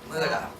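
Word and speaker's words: Mutter: Mom, Muda. She was my Muda. That's how you pronounce mother in German. She taught me that.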